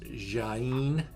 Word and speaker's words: Jaen: in parts of portugal um the grape is pronounced jaene j-a-e-n um but uh this is where they're